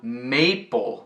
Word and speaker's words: maple: O símbolo nacional do Canadá, o maple leaf, tá pronunciado maple, mas a fruta, apple, tem dois P's. E aí, a vogal dentro permanece curta, sem pronunciar o nome.